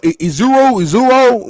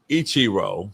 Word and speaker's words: Ichiro: Uh Iro when he was there. Ichiro.